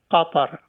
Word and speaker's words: Qatar: the second example I will mention is uh Kar which we call Qatar the uh country of